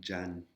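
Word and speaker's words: จันทร์: Wan Jan One Jan Wan. Alors, par exemple sur ce ce mot-là, pour ceux qui connaissent les lettres taille, on a deux lettres qui se prononcent pas dans le mot Jan.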